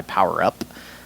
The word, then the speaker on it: PWRUP: Unfortunately, I didn't get to see these guys, but I brought the record Just Devils by Power Up. It is spelled PWRUP. Stylized PWRUP.